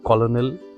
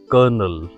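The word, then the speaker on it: colonel: It is not colonal. It is kernel.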